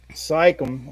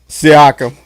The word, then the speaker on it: Siakam: And what's you look at Indiana, and it seems like it's been Sycam. Sycam, that's how you say it. Siakam.